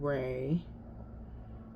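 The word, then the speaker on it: Wray: Well, I can't find it, but it's a song by Nicole Ray. And Ray is spelled W-R-A-Y.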